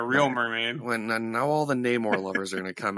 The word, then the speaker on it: Namor: No, Steven pronounced his name correctly. It's French. Namor. Listen, I had to stare at Namor again for 3 hours worth of road trip.